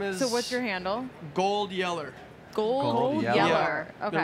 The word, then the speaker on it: GoldYeller: GoldYeller. Gold Yeller. Yeller. Okay. It rhymes with Old Yeller and it starts with a G.